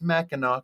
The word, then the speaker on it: Mackinac: on here what's this one at least he pronounced Mackinac correctly oh also she had um uh being